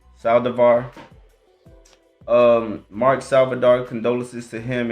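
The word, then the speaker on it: Saldívar: First off, condolences to the kid Mark Salvador. No, did I say it right? Sorry, make sure I say it right. Saldivar.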